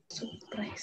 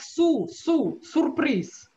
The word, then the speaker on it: сюрприз: Сюрприз. Сюрприз. Сюрприз. Сюрприз. Is soft or hard? С. Сюрприз. Hard. Hard. If it were hard, I would pronounce it like su, su, surprise. Нет. Soft.